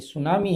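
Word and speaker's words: tsunami: ये सुनामी है, T silent होता है सुनामी में।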